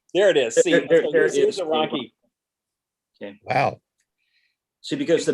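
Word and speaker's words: Ronchi: that so you see spell r-o-n-c-h-i is pronounced rocky does anybody in your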